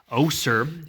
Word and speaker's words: Osier: all the way to Osier, I believe you pronounce it, O-S-I-E-R.